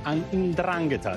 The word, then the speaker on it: 'Ndrangheta: Now, all the defendants were affiliated to the 'Ndrangheta, the organized crime syndicate from the southern region of Calabria. This is how you pronounce it, actually.